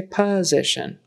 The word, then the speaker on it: position: or POS we say position I don't know why that s is like a z and the t o n is shun like s Shu n